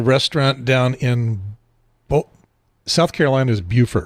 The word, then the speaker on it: Beaufort: I was about to correct you if you were like, Beaufort. No, it's Beaufort. But yes, yep. South Carolina does it backwards.